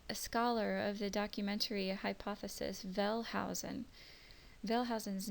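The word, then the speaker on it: Wellhausen: of the documentary hypothesis velh Housen vhen's name is written with a W his last name uh but pronounced with a V so Jehovah's consonants are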